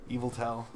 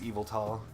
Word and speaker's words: Yveltal: Eviltal. I don't know how. I actually don't know how to pronounce that. Yeah, I've heard it pronounced so many different ways, but I think it's Eviltal.